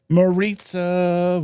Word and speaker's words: Maritza: Maritza rhymes with pizza.